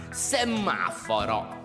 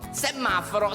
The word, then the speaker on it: semaforo: Semaforo. Semaforo si scrive con due M. Semaforo. Ripeti.